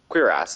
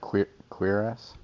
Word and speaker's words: cuirass: Cuirass is the actual proper pronunciation. Cuirass? Cuirass. It is, and most people are. Yeah. That makes sense. Cuirass. It's a French word.